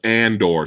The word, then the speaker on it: Andor: think i'm saying it wrong hold on it's andorr sorry about that and or oh okay okay